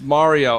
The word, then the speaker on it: Mario: originality right you know Mario you say it's Italian the A you know I don't believe anybody from Italy will ever tell you a is pronounced a mah nobody's doing ma in Italy. It's it's it's ma. Yeah. Right. So it's it's Mario.